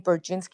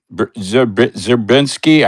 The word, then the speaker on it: Brzezinski: That this original thought was from Brzezinski and Carter, during Brzezinski and Carter. Anybody else knows anything about that? Absolutely. Zerbinski, I can never could pronounce his name right.